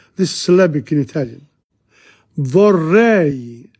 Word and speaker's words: vorrei: Vorrei, E-I, two sounds.